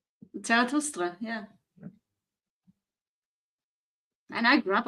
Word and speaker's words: Zarathustra: I said it in a Latin fashion, and then Anima destroyed everybody with the correct pronunciation. Zarathustra, yeah.